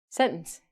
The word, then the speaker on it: sentence: wrong I always spell it s-e-n-t-a-n-c-e but the pronunciation quickly is sentence my brain goes sentence but Americans and Canadians say sentence um there's a phrase that people say about